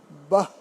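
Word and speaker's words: বাঃ: থাকলে সেগুলো অব্যয়ের শেষে, অবশ্যই অব্যয়ের শেষে বিসর্গ থাকলে অর্ধ হ হয় বা অর্ধ হয়ের মতো উচ্চারণ হয়। যেমন আহ, আ বিসর্গ, আহ, আহ, বাহ, বাহ, বয়কের বা বলে হ বলতে হবে, বাহ, বাহ, এরকম না, বাহ, অর্ধ হ হবে, উহ, উহ, উহ।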